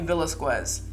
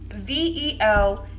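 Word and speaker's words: Velázquez: teacher that I had for months, called me Velasquez.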